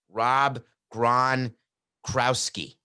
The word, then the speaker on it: Gronkowski: I think I'm missing 3 syllables. Rob Gronkowski.